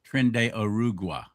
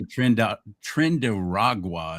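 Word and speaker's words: Tren de Aragua: They say Trenda Trend Ragua is what they've been saying. That's not it.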